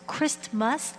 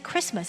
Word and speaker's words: Christmas: Of course, it's Christmas, but we don't pronounce the T inside of that. 그리스도의 날입니다. And instead we just say Christmas.